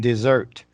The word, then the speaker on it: dessert: Desert sounds a little bit different. The second sound looks a little bit different than dessert. Okay. Dessert, Dessert. desert. Yeah, a little bit different sound on the second syllable.